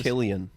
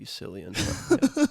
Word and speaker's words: Cillian: Apparently, it's pronounced yeah. Killian. Killian. Yeah, Killian. apparently. Killian. Yeah. fucking bad with He's names, 47 man. years old. Holy shit. Well, you'd think it would be Cillian.